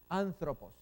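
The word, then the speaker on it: ἄνθρωπος: Aquí, esta es una palabra estrújula. Tiene 3 sílabas. Pos es una, thro es otra y an. Esta es la Z. Thropos. Ahí tenemos la pronunciación. Anthropos.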